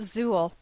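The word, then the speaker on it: XUL: user interface language or xql pronounced Zuul the name Zu references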